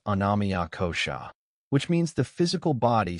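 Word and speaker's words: annamaya kosha: The outer layer is called anamaya kosha pronounced anamia kosha which means the physical body sustained by food.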